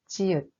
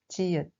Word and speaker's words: 지읒: The ninth simple consonant is 지읒. We write it the top horizontal line from left to right, and then the rest is like 시읒. We pronounce it z, z, like in jeans.